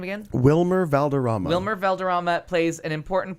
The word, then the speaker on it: Wilmer Valderrama: Wilmer Valderrama.